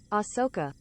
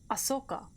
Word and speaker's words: Ahsoka: Ahsoka. Ahsoka. Oh, so I was pretty much right. There's an H in there, but it's pronounced Ahsoka, according to Google.